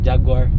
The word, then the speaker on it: Jaguar: It rhymes with a good car. Jaguar, good car.